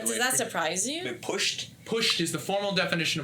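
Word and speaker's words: putsch: Been pushed? Pushed is the formal definition of what occurred on January 6th. How you spell that? P-U-T-S-C-H. It's German. It means a coup without the support of the military.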